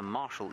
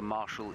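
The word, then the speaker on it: martial: out here, and that of course is the Marshall eagle, and you want to know why it's called Marshall. Well, Marshall is spelled M-A-R-T-I-A-L, which basically means military, or to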